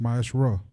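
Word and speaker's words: מעשר: It means 10th in the Hebrew and is pronounced Ma'asherah.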